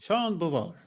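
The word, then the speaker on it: Jean Beauvoir: Ingen som kan uttala hans namn, så det är lugnt. Jo, Sean Bovar heter han. Jean Bovar.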